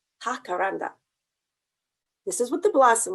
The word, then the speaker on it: jacaranda: found out what a jacaranda tree is in spanish it's actually pronounced hakaranda this is what the